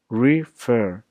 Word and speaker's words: refer: For example, refer, refer. The emphasis and tone is on fer, so it becomes referred, double R E D.